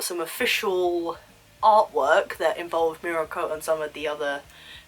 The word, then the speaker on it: Mirko: I'm going to say Mirko. Mirko? I'm pretty sure that's how they say her name. Mirko the rabbit hero.